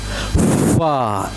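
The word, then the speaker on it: ف: It is fa. Fa. F for fish. F for fa. Fa. F sound.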